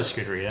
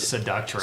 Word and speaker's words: Scuderia: Oh, I know the Scuderia. Yeah, That's how you yeah.